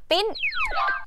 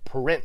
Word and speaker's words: print: อาจ จะ ปิ้น print อ้า ไม่ ใช่ ปริ้น เหรอ ปิ นะ ฮะ print ถ้า พูด ว่า ปริ้ อาจ จะ ตะ ชาติ งง ได้ นะ คะ จะ คิด ว่า บีบ แต นะ print PR R นะ คะ PR R int print ก็ คือ การ พิมพ์